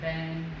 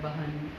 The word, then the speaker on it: बहन: Because in Delhi, it's so easy to say subah, ben, mere ko. They don't say it properly like bahan, yeah, subah.